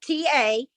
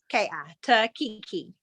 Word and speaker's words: Takiki: I'll spell it. T-A-K-I-K-I. Takiki.